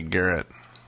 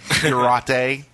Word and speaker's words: garrote: The spy needs to get like a Garrett. Yeah. Choke people. I love bringing podcasts down, talking about the Garrett. No kidding, man. Garrote.